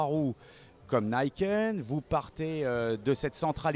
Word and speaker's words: Niken: Cette Niken, puisqu'on dit Niken, on le prononce à l'américaine, c'est un tout nouveau véhicule 3 roues qui a démontré maintenant depuis quelques temps des capacités extraordinaires.